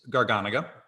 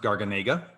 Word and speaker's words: Garganega: that already Suave um the best known grape in Suave is garganaga which by the way for years I mispronounced garganega uh and then I had a wine rep come in and set me straight and I'm grateful for it because now I'm better